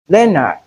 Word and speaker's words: Leonard: A, as in leopard, Leonard, Jeopardy, and Jeffrey. Most times, people mispronounce these words as leopard, Leonard, Jeopardy, and Geoffrey. It is not Joe, but we have the sound in place of the EO.